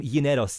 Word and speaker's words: Gineros: So that's why I said his name Gineros. That would have been the correct pronunciation. But if you want to say it, how do you usually say it for everyone? right. Generos is the Greek way, and Right. generos is the American way.